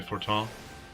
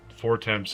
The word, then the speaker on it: Fortemps: Did they send the family, oh, Edmont de Fortin? That's fair. I was pronouncing Fortemps as I was admitting to Green Iris in the earlier videos until it hit the first voice acting.